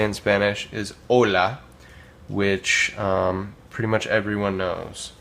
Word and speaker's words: hola: So here we have hola. Now you'll notice that it's spelled with an H. This is because the H in Spanish is mute. It's silent. You don't pronounce it. So hola.